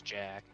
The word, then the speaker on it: Jacques: guess technically his name is Jack. It's supposed to be Jack, yeah. I 'Cause, always you know, call him Jock because that's how it's spelled.